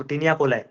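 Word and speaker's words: taenia coli: continuous bands called as टिनियाकोलाई टेनियाकोली जो भी है इसका प्रोनाउंसिएशन टिनिया कोलाई अब देखो ये तुमको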